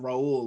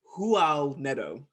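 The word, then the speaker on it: Raul Neto: say this psa because he's brazilian it's not pronounced raul like the spanish it's like it's actually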